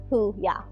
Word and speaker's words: Huya: to pronounce it but huya was an easy one that you know you can it's pronounced the way it's spelled who yeah yeah it's it's a